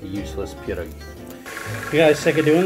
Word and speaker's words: pierogi: Pierogi. Pierogi. Pierogi. You got to say it like that.